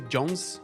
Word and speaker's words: Jonze: saxons é um mousse se pronuncia Johns Johns eu falo os